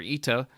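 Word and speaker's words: ἦτα: And he says the vowel eta, or eta, however you want to pronounce it, had already merged with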